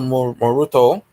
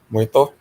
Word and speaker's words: Muerto: Some random character that was in like one comic or something named El Moruto, whatever. I heard the pronunciation. Yeah. Muerto.